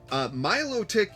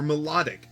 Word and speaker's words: Milotic: Milotic EX, or Melodic EX, depends on who you ask how to pronounce it.